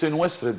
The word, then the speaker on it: Senwosret: Well, let's keep with the Egyptian name, with the ancient hieroglyphic correct name of pronouncing the names of our grandpas, right? So it's Senwosret III.